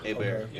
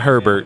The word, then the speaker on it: Hebert: It's Hebert. Yeah. Hebert. Not Herbert. We think we sound The H is silent. and it's Hebert if you say it in English. It's not Herbert.